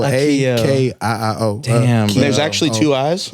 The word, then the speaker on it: Akiio: Akiio? Akiio. I can say it on camera. It's Akiio. Akiio.